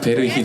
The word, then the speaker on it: 베르힐: 저 루원 시티 베르 베르힐 이죠 베리힐 예 베 예 이게 티가 들어가서 이게 묵음으로 좀 어렵더라고요 이름이 아파트 얘기 잘못하면